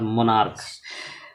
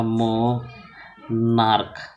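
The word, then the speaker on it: monarch: Stokes है ना इसको हो जाएगा उसके बाद मोनार्क एम ओ एन ए और आर सी एच इसका जो उच्चारण होगा मो नार्क मोनार्क तो इसमें हम जोड़ेंगे एम ओ एन ए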